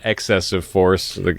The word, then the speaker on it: eXcessive Force: Today we're going to be talking about season 1, episode 12, titled "Excessive Force," which. Accent on the X.